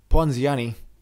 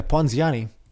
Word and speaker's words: Ponziani: Ponziani. So Ponziani, one moment. Pronunciation. Ponziani. Ponziani. Ponziani. Ponziani. Yeah, Ponziani.